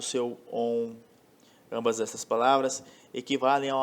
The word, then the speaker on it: Om: Como já disse, a palavra Om ela pode ser pronunciada segurando mais tempo o O, segurando mais tempo o U ou segurando mais tempo o M, como René Guénon ensinou, né, em algumas lições, de modo que você queira enfatizar alguma característica própria desses 3, né?